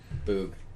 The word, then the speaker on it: Boog: Boog. Boog. Boog. Oh yeah, that's how you say it.